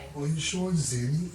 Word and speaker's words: Xenny: Or in short, Zeni.